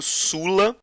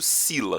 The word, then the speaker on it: Sulla: E do lado direito a gente tem Lúcio Cornélio Sulla, ou alguns também pronunciam o nome como Lúcio Cornélio Sila, Sulla ou Sila, tá? As duas expressões são aceitas, tá? A mais tradicional é Sila, durante muitos anos se